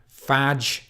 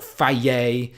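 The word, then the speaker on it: Fage: so hard to pronounce they break it down phonetically on the tub but whether you pronounce it vag vag or Phi yeh it's a good protein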